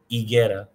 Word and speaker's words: higuera: H isn't pronounced, but the I is an E sound. So it's like hielo, higuera.